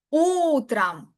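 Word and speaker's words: утром: Utram. Utram. La tilda estaría en la u.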